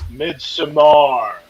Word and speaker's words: Midsommar: And inside Hansel, it's Midsommar for you.